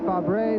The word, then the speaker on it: Fabre: I would say Fabre, but Fabre is the French way to pronounce it correctly.